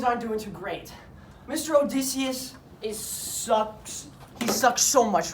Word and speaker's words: Odysseus: Odysseus. That's how you say it. All you've been saying it wrong.